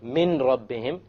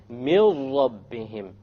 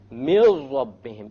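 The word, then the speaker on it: من ربهم: So you don't say min rabbihim, you drop it. You drop the noon and you merge the meme with the ra. And you say, mil rabbihim, mil rabbihim, immediately.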